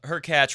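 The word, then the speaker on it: Hurkacz: what's going on today her catch rhymes with latch who's actually on our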